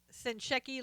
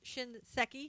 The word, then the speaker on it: Shinseki: you know since since send Shecky left Shinseki I'll say it right since he left that's